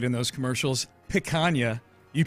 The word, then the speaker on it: picanha: Picanha. You pronounced picanha right for sure.